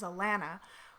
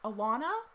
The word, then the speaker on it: Allana: I have some people that I've been like, my name's Allana, like 1,400 times. And they're like, Allana? No, that's not my name.